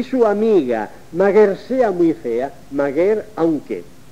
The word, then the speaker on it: maguer: es guernica y es maguer el mager ha sido una cosa cada de quienes en el siglo XVI y XIX hicieron ediciones de textos antiguos y como no sabían có se pronunciaba aquello pensaron que era así el origen es macarie